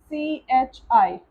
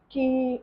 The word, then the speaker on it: chi: This is CHI. It is not pronounced as ki or chai, it is pronounced as chi.